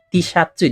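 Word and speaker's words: Tシャツ: Dan kalau misalnya mau bilang baju kaos, tinggal tambah kata T di awalnya. Tishatsu dibacanya. Ini dibacanya tishatsu.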